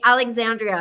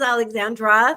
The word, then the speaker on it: Alexandra: for for seven years he's called me Alexandria he put an i on my name like I would be so embarrassed at this point to correct him and say my name is Alexandra there's no I in it and he think how